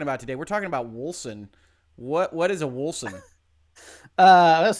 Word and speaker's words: Wolcen: Wolcen. Oh, it's a hard C. I think it's a hard C. I'm not positive actually.